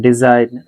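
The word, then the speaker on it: design: এটা শুধু মনে রাখবেন ডিজাইন রিজাইন rain ফেইন সাইন align এখন আপনাদের কাজ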